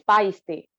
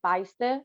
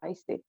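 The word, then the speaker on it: Paiste: I use and I never know if I pronounce this. Is it paste or is it paste? Actually, it's pasty.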